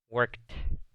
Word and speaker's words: worked: Pongan atención a la pronunciación. He worked. Suena como una T al final.